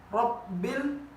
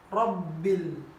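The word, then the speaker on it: رب: Hai nurbaini tertukar dan huruf P dibacanya lokbin yang seharusnya dibaca rabbil Hai juga baru kenal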